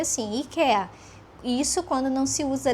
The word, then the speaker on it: IKEA: Aqui a a essa palavra, o nome dessa dessa loja se pronuncia assim, ika.